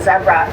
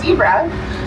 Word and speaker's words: zebra: Now, those wilderbeast also have the strenging of a zebra. And yes, I'm pronouncing it as zebra because it's Africans.